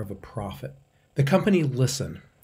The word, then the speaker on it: LSTN: a profit the company listen which is spelled lstn was founded in 2013